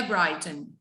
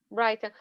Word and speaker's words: Brighton: Não esquece de, sempre que você usa o have, mudar o verbo, e a pronúncia aqui é Brighton. Brighton.